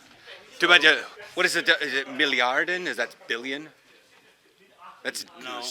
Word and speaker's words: Milliarde: Is it Milliarden? Is that billion? That's No. German. So, like, yeah, it is. So, million is million, and then milliard is billion. Milliard?